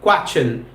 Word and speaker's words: question: correct pronunciation है question, chen, question, question नहीं होता, question नहीं होता, श का आवाज नहीं आता, छ का आवाज आता है क्वेश्चन, क्वेश्चन, क्वेश्चन, क्वेश्चन, क्वेश्चन, क्वेश्चन।